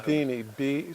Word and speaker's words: Bedini: Bedini, spell it out.